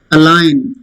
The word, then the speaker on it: align: Align. You align with somebody. Some people get together. Alignment. Okay. G is silent.